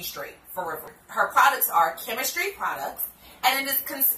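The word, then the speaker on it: Kimistry: Her products are chemistry products. And then it's spelled K-I-M-I-S-T-R-Y. Chemistry, because I do believe her name is Kim.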